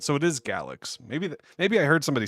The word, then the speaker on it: Galxe: It's pronounced like galaxy without the last y sound. So it is galaxy.